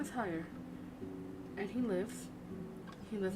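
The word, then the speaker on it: Haigha: happy his name is higher pronounced itself to rhyme with mayor I love my love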